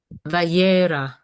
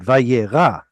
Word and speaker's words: Vayyera: There is a tsere in this first word. How do you pronounce it? Um, Vayyera. Very good. Vayyera.